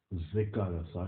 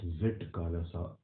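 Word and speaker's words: Zitkala-Ša: As a writer, she adopted the pen name Zikalasa, and remember we pronounce it as Zikalasa, not Zitkalasa, and in 1900 began publishing articles criticizing the Carlisle Indian school.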